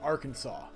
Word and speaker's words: Arkansas: back in the day how you pronounced it it is Arkansas it is legally Arkansas no they are not